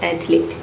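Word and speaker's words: athlete: ए टी एच एल ए टी एच एथलीट। Only to syllables इसमें रहेगा। ये हो गया आयत दूसरा हो गया लीड। ठीक है? दो ही सिलेबस इसमें रहेंगे। नो एक्स्ट्रा ई। इसमें एक्स्ट्रा कोई इ नहीं रहेगा।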